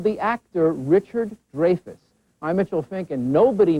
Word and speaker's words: Dreyfuss: who learned recently that for his entire life he has been mispronouncing his last name. Dreyfuss will next appear in the HBO movie Prisoner of Honor, based on the historic Dreyfus affair, spelled the same but pronounced differently, in which the man